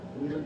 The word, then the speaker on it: Wheeland: I always pronounce the building, it's the Wyland or Wheeland building? Wheeland? Wheeland building, thank you.